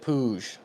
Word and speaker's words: Puig: Yeah, he pronounces it Puig.